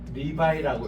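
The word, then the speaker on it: Levi: 뜻이 레이라는 뜻인데 그래서 이제 이게 이제 영어로는 리바이라고 읽습니다 리바이 그래서 이제 우리 청바지에서 제일 브랜드가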